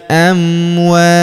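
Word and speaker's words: أموات: Walaquulu liman yuqatalu fi sabilillahi amwat. Huruf tunnya, huruf ta atau tunnya di sini kita berikan hembusan tipis ya karena kita berhenti di sini.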